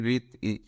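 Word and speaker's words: wreath: प इसके फार्म देखेंगे रीत इसमें भी डब्लू साइलेंट है रिच रिच ंग सस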